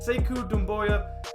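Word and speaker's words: Sekou Doumbouya: 15th overall pick graphing say ku noon Boyle which I hope I'm saying correctly to the family I said it wrong on the podcast last week but say CUDA Moya he's 69 extremely long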